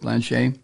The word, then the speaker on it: Blanche: here end quote um now Trump's attorney Todd Blanche Blanche as how you pronounce it Blanche uh he has pressed nearly every potential juror